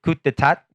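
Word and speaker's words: coup d'état: Very hard to spell this word. But you don't pronounce any of it. Just coup. Yeah, just the coup.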